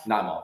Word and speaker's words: Naimov: Naimov, yeah.